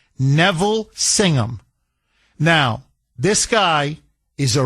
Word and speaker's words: Singham: I guess singing ham if you want to just, you know, the full uh if if you want to uh uh phonetically just pronounce it, but it's Singum.